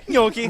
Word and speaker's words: gnocchi: good stuff okay so that's how I said yoky yeah yeah that's correct you're right I don't know you're right yoky gnocchi dude I've literally never known the proper way to pronounce instead all right I do my best